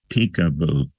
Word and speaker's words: PCAOB: body is called the pcaob the public Company accounting oversight board affectionately known for the pronunciation of their acronym as peekaboo pcaob is that a